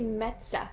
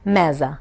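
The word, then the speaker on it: meze: And then there is another section that's called, how do you pronounce it? Mezza. Mezza.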